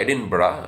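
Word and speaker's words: Edinburgh: था एडिन ब इंफरमरी तो उच्चारण होता है एडिन ब लिखा जाता है एडिनबर्ग पर पढ़ जाता है एडिन एडिन तो वहां पर वे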